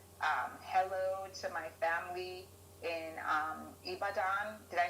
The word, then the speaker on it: Ibadan: say a special hello to my family in ibadan did i say it right sir yes you